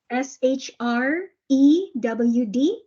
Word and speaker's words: shrewd: to explain sure true s HR e WD yes okay so so there are three consonants the sh is sh followed by an R shrewd shudd again sh sh